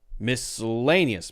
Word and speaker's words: miscellaneous: that's almost not there so whenever you have these unstressed vowels in syllables that are almost not there you can almost not even hear them then likely it's going to be the schah sound miscellaneous miscellaneous so this